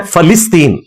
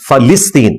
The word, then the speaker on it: فلسطین: یہ لفظ ہے فلسطین، ویسے بولنے میں فلسطین بھی لوگ بول دیتے ہیں. فا کے اوپر زبر ہے، لام کے نیچے زیر ہے، فلسطین. اسی لیے اس کے انگلش